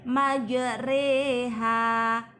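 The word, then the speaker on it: مجريها: ya Mayor Roha dibaca majreha imalah memiringkan bunyi Fatah pada kasrah Hai bacaan yg mana Perbedaannya terletak pada bacaan roh tulisannya majroha membacanya majreha race seperti kata sore e-maju reha bacaan imalah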